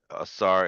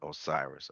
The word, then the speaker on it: Asar: Asar is the African way of saying Osiris. Osiris is the Greek uh, pronunciation or language.